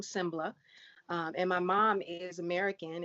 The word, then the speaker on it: Sengbloh: Sembla. Sengbloh. Yes. Okay. Saycon Sengbloh.